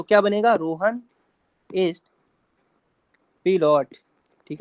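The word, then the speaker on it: Pilot: Rohan is पिलोट ठीक है ना पिलोट पायलट है वैसे इसका प्रोनाउंस जो होगा वो पिलोट हो जाएगा इसके बाद अगला सेंटेंस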